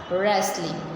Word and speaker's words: wrestling: suppose आपको रेस्ट का spelling आता है, रेस्ट इज़ the small spelling, तो रेस्ट के पहले आपको W लगा देना है और उसको वापस एक साथ में रीड करना है, रेस्ट, राइट, WREST, रेस्ट,